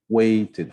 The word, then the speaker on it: waited: E depois nós vimos que sempre que o verbo original terminar no som t ou no som d, então o som do ed ele será ed. Tá? Então, ed mesmo, tá? Uma sílaba adicional.